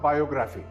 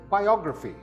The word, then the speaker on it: biography: This word is not biography. The second syllable is stressed, and this word is pronounced biography. Again, this word is biography.